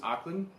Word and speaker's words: Ackland: Guys, it's Josh from Throwing Athletes Forum here, and I've got Ackland. Is that how you say it? Ackland, yeah.